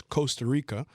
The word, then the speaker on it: Costa Rica: facts about it one the actual pronunciation is Costa Rica uh because they're the they're the one Spanish country that doesn't really roll their r's oh I'm from Costa